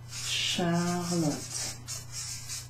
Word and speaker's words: Charlotte: So, C and an H is pronounced sh. Sh, like Charlotte, which is me. Charlotte.